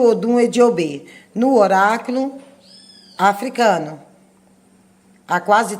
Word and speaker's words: Eji Ogbe: Pronunciado, nós falamos Ediobê, Odum Ediobê. Escrito Odum Eji Ogbe.